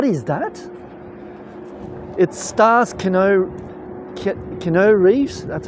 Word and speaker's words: Keanu: It stars Keanu Keanu Reeves. That's how you pronounce it.